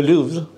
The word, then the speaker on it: Louvre: Your lecture at Le Louvre. How do you pronounce it? Well, it's French. In French, I pronounce it like you pronounce it. Louvre. Louvre. Louvre. It's probably Louvre.